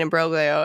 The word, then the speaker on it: imbroglio: Might as well be the Spanish American imbroglio as far as anyone remembers or gives a fuck. He pronounces the word with a hard G.